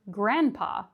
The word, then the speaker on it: grandpa: It would be the same for grandma or grandpa. We don't pronounce the D.